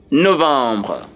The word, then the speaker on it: novembre: The next month is Novembre. Novembre. Novembre. Novembre. Novembre. And Novembre is spelled N O V E M B R E.